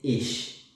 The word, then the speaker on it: ich: When you want to say I, you say ich. Ich. Ich. When you want to talk about another person, you say you, which is du.